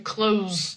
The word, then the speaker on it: close: So close like you are close to me. Proximity. It's like an adjective. And close the action to close the door is with the Z sound.